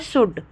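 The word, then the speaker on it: should: ठीक है वुड और शुड आप देखते हो कि हम कुड नहीं बोलते हम उल्ड नहीं बोलते हम शुल्ड नहीं बोलते हम एल का प्रोनाउंस नहीं करते हैं क्योंकि एल साइलेंट हो जाता है तो हम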